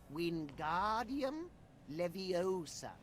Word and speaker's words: Wingardium Leviosa: fly its incantation is wingardium leviosa just like this wingardium leviosa pay attention to your pronunciation it's wingardium leviosa remember make the gar nice and long also the wrist movement